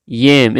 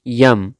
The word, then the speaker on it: yam: yam, कचालू, yam. It's not yum, it's yam. The pronunciation of yam is yam, yam.